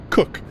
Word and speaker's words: Koch: i assume i said it's spelled koch but it's pronounced cook captain cook replied shaking